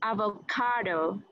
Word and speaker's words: avocado: So third syllable stress, you know, first and third, but third is going to get the primary stress. So avocado. Yeah. Okay, but get that O at the end.